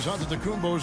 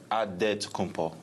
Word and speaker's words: Antetokounmpo: In a real way, you gotta say with a D, so it's Antetokounmpo. But in the Greek way, you say with the NT, like Antetokounmpo.